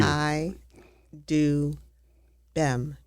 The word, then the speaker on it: Chidubem: Chai Do Bem. B E M. You have to pronounce that B.